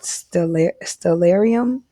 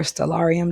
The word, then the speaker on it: Stellarium: I have an app called Stellarium or Stellarium, depending on the way you pronounce it.